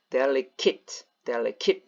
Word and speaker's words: delicate: 그래서 발음이 eight가 아닙니다. 그래서 발음이 delicate 됩니다.